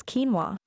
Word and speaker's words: quinoa: The correct pronunciation of this word is quinoa.